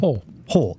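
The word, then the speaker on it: Hohl: John Holt, Hole with how do you say his last name again? Hole. It is just H-O-H-L. John Hole.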